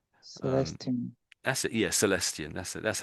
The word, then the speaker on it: Celestion: Yeah, Celestian. That's it. That's how I would pronounce it. Yeah, Celestian.